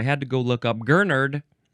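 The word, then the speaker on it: gurnard: So I had to go look up Gernard. Gernard. This is a noun from 1792. Uh this is any of several marine fishes that resemble gernards and have large pectoral fins allowing them to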